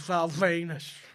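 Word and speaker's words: Val Venis: My favourite wrestler's Val Venus. Because Venus rhymes with penis and I love cock.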